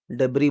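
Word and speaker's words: debris: से लग रहा है बट इसको डबरी बोलते हैं डीई बी आर आई एस हमेशा इसमें साइलेंट रहेगा ठीक है एस नहीं बोलोगे आप लोग क्या है डेबी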